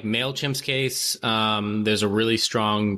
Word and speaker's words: MailChimp: And some lady was reading off a card and didn't know how to pronounce MailChimp. She pronounced it as MailKimp.